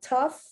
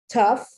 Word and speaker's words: tough: an f just like tough just like cough they end in gh they do not end in f and they definitely do not end in ph tough once again that gh